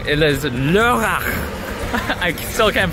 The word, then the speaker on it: Lörrach: It is Lörrach. I still can't pronounce it right.